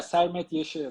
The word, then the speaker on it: Sermet Yeşil: I want to make sure I'm pronouncing that right. Yeah, yeah, Sermet Yeşil.